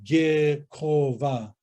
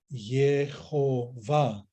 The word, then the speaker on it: Yehovah: So it wouldn't be correct to say Gehova. When these consonants were softened, we could say Yehovah. It would be close to the Hebrew understanding and pronunciation of the Tetragrammaton.